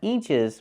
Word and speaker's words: inches: in means a foot the word is not pronounced inches we need the short I sound like this is I inches not inches but inches 12 in means a